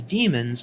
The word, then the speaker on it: daemon: By convention, the word daemon uses its archaic spelling here with an AE in place of the E in the modern spelling. However, the pronunciation is the same.